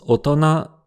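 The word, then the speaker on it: 大人: Mais le mot se prononce otona, ce qui ne correspond à aucune des prononciations habituelles des 2 kanji.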